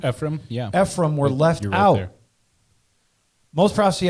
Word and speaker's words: Ephraim: and Ephraim were left out so am I pronouncing that right Ephraim Ephraim yeah Ephraim were left out most prostate experts believe Dan